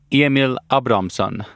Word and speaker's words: Emil Abrahamsson: My guest today is Swedish rock climber, route setter, and YouTuber Emil Abrahamsson, or Emil Abrahamsson. That's my best attempt at the correct Swedish pronunciation.